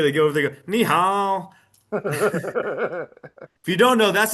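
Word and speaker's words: 你好: Yeah, they go over there, go, ni hao. If you don't know, that's actually the proper way to say hello, and its pronunciation is key. You could learn that ni hao is hello, but if you don't go ni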